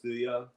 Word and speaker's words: Thuya: Thuya. Thuya. No, it's literally It's pronounced thuya.